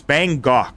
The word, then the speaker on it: Bangkok: It's Bangok. I don't know why I keep saying Bangkok. It's pronounced Bangkok.